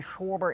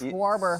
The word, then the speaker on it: Schwarber: It's not even Schwber. It's Schwarber.